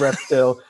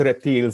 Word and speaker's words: Reptil: I'm like, well, am I speaking English? If I am, it's Reptile. And if I'm speaking Spanish, then it's Reptile.